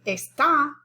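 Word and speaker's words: está: this in spanish but if i want to say esta which means is like como esta usted i have to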